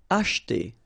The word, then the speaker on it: acheter: Acheter, same thing here, we don't insist on this E, so acheter, acheter. And that's it for this part number 4, okay?